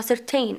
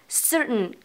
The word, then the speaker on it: certain: كمان عندك كلمه certain مثلا، اوكي، بعض البنات ممكن تنطقها certain او certain وانما هي غلط. ليه؟ لاحظي هنا انه اوكي انها هنا سبقها شواء، اذا تعتبر syllabic، فبالتالي نطقها كيف؟ certain certain، اوكي، مش certain، اوكي.